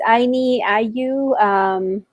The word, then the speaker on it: Ayni Allyu: I also want to make sure we get the correct like spelling and pronunciation. Yeah, it's Ayni Allyu.